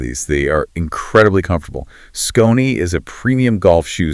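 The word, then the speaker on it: Skonni: I want to talk about our other sponsor today, Scrutiny. That's pronounced S-K-O-N-N-I.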